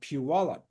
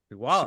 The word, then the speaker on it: Puyallup: I was in Washington a couple of weeks ago which was really wonderful in Puyallup. Puyallup?